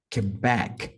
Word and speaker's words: Quebec: inglês aeronáutico vai ser Quebec Quebec então back é mais forte a letra R Romeo